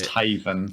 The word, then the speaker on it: Lost Heaven: the American city of lost Heaven is it or Haven I can't they pronounced it lost Haven lost Haven Circa 1930